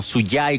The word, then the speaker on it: SUCHAI: o sea derechamente escuchar o suyai como también se puede pronunciar es el primer satélite